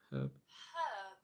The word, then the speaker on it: herb: And our final word herb. Herb. Herb. Herb. So we pronounce the h like you're fogging up a mirror.